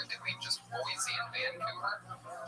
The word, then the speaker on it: Vancouver: You put the wrong emphasis on the wrong syllable.